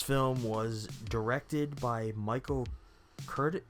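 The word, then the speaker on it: Curtiz: was directed by michael curtis i think you say his last name curtis cortez curtis it ends with a z yeah we're gonna say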